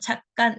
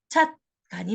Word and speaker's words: 찻간: 발음은 어떻게 나느냐? 사람들이 기존의 사이시옷을 표기하기 이전의 발음이었던 찻간 왼쪽 발음도 맞고요. 사이시옷을 넣어서 표기한 찻간이라는 오른쪽 발음도 맞습니다. 자, 그래서 최종적인 발음은 찻간이 맞아요.